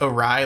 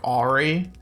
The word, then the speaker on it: awry: And I pronounced awry like Ari. One of my friends made like incessant fun of me for it, and it's like a core memory for me. But I'm still kind of like, why is it pronounced awry and not Ari?